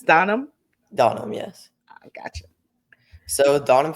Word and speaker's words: Donum: Donham, yes.